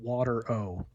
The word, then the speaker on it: Watero: Literally spelled water O, but pronounced Watero.